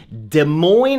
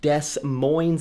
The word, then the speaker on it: Des Moines: Taylor and I are in Des Moines, Iowa, which feels like it should be pronounced Des Moines. It's like, where are the S's going?